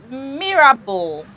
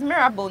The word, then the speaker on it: Mirabelle: Mirabel. Mirabelle. No, I swear it's Mirabelle, not Belle. Like Bull, like B-L-E.